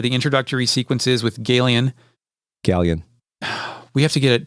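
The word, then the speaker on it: Ghaleon: introductory sequences with Galen gallion we have to get a talk about that because I had another we'll do it now I had a fucking friend he pronounced it gay Leon and we thought that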